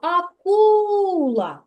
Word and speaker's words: акула: слово акула акула так Який же ж склад тут буде наголошеним другий другий склад Молодець правильно і ось таку рисочку це наголос так позначається рисочкою ми покладемо на другий склад на звук у акула Бо саме другий